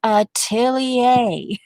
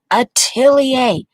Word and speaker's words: atelier: interesting in chad but atelier and then you have to say it fast once you get that atelier atelier atelier okay so there we